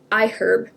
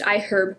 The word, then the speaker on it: iHerb: package um and I get it on I I herb it's pronounced iherb by the way not iherb I learned that